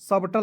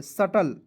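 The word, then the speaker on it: subtle: कैस्टल एस यू बी टी एल ई सर्टल सबटल नहीं पढ़ेंगे सटल यहां देखेंगे ई आई जी एस टी एट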